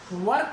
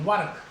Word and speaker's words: work: जैसे मैं यहाँ पे बात करूँ WORK, आर के बाद व्यंजन आ रहा है तो आर का उच्चारण नहीं होगा। वर्क नहीं है, वर्क, वर्क, वर्क, ए पे जाएगा। यदि आर का उच्चारण नहीं हो रहा तो ए पे खत्म करेंगे उसे, वर्क।